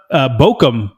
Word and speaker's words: Bochum: And also, heads up, Bochum is how you say this. Way Bochum. Simpler than I thought.